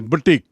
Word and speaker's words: boutique: First is butique, जो शुरू में हमने देखा, फैशनदार कपड़ों की दुकान, और इसका उच्चारण देखिए, उच्चारण इज बुटीक, BOUTIQUE.